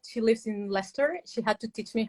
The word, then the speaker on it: Leicester: She lives in Leicester. She had to teach me how to pronounce that word because I would say Leicester, but now I know it's Leicester.